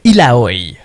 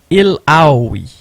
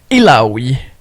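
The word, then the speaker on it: Illaoi: La façon dont il faut prononcer le nom, c'est il a Ioui. Ça fait du sens mais vous pouvez l'avoir à l'écran. Iloui de cracken priestess.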